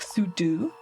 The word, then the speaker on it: sudo: Do you guys pronounce it pseudo? I always call it pseudo in my head, but I know it's like super user do, so maybe it should be like sudo, or so.